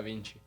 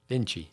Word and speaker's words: Vinci: Roberta Vinci. Vinci.